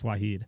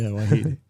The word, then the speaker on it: Wahid: I messed it up to him once, and he said, no, it's Wahid. Yeah, Wahid.